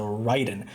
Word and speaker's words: Raiden: review of The Artisan Raiden or the way it's meant to be pronounced the ryen now I don't think